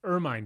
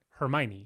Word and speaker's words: Hermine: it's spelled Hermine. And I want to say Hermione. exactly. But they don't say that. No, they They don't. take the H off and they take Yeah. the E off, and they're like Ermine.